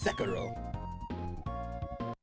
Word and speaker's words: Sekiro: I suspected you were capable of pronouncing Sekiro, but honestly it made me feel better to hear you use the Japanese syllable emphasis just the once. Sekiro.